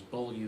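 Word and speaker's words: Beaulieu: you again for clarification BV Vineyards is Buu Vineyards that's just abbreviation for Buu which most people don't know how to pronounce but it's hard BV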